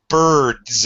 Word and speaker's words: birds: Bird, birds. It sounds like a Z.